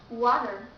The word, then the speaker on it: water: after R so you have to change T into D like water FL Porter pter FL and water so when t comes with r you have to pronounce like flat T the third one is